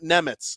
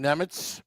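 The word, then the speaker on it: Nemec: started his career well I call him Simon Nemitz because I'm gonna hide behind Kate Madan when she announced who the Devils were Drafting and I'm gonna do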